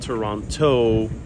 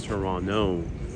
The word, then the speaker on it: Toronto: of Kensington Market in Toronto Canada the largest city in Canada now Canadians pronounce the second T silent it's silent uh so it's not Toronto for the Canadians is Toronto and today we're going